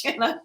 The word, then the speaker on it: Shana: And I have spent my entire life saying, no, I'm sorry, it's not Shana, it's Shana. It's just Shana.